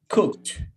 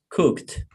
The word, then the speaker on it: cooked: i do good cook it is that the pronunciation in past no it is cooked repeat cook cut cooked cooked one more time cooked so from today